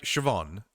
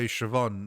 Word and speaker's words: Siobhan: I can kind of see how that it's just BH is sort of a V because it's kind of a B but with an H. V. If you try to say VH, you you almost make a V with your li with your with your lips and and sh is like situation.